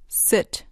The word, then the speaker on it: sit: Can I sit here? Sit. Sit. Can I sit here? دقت کنید که تلفظش سیت نیست. باید بگید سیت. یه صدای بین ای و ای.